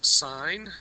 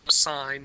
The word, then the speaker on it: sine: And that is sine theta, cosine theta, and tan theta. This is pronounced sine, not sin.